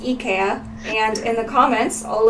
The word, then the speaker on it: IKEA: in Japan is pronounced EA and in the comments all of the Swedish people tell us that that's closer to the original pronunciation they call it EA in Sweden that's how it's supposed